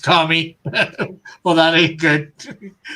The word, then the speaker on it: kami: My understanding is that Shinto is based around the idea that everything has a spirit or kami, pronounced kami.